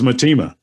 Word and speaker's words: Mtima: And they said, it's Mtima. Mtima.